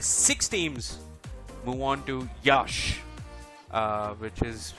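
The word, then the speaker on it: Iași: and from their six teams move on to Yash uh which is spelled i-a-s-i and that's where they'll be battling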